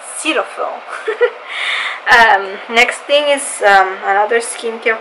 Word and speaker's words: Cetaphil: So it's Cetaphil. Apparently that's how you say it. I saw a commercial recently, and that's how they said it, Cetaphil.